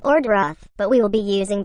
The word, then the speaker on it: Dyrroth: We don't know if it should be pronounced as Diroth or Doroth, but we will be using both pronunciation during this boot camp.